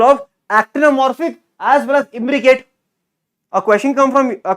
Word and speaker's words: imbricate: your imbricate estivation imbricate imbricate what do I say rhymes with Advocate imbricate Advocate Advocate fights